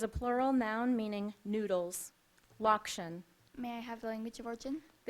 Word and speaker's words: lokshen: Your word is lokshen. Natalie loves kugel made with lokshen and ricotta cheese. Lokshen. May I have the definition, please? It is a plural noun meaning noodles. Lokshen.